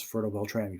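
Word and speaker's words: Fertile-Beltrami: That's how I could pronounce Fertile Beltrami properly.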